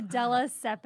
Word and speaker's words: Della Siepe: I have my guest, Della Siepe. I finally pronounced it correctly.